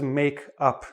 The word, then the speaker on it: makeup: What does make up mean? First, notice the different stress. Make up. The stress is on the make. Make up. The stress is on the up.